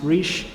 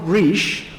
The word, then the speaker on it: Reich: and we should all make a mental note pronounced riche is one of three people with that name